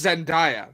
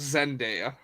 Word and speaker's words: Zenia: hey hey hey hey it's Zenia not Zena I don't care no